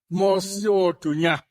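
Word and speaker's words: Mosi-oa-Tunya: Actually, its actual name is Mosiotunya. That's the correct name. However, when some visitor came to our country from England, he could not pronounce Mosiotunya.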